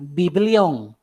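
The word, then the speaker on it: βιβλίον: para anotar por ejemplo el término biblia viene de la palabra griega que así como así como se pronuncia biblión no así de biblia biblión en la palabra griega biblión y el significado de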